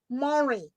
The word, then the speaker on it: Maureen: It's M-A-U. Why does M-A-U become O, more or Maureen?